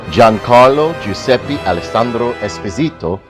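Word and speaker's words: Giancarlo Giuseppe Alessandro Esposito: of my favorite actors gin carlo giuseppe alessandro let me pronounce it right giancarlo giuseppe alessandro especito as as a well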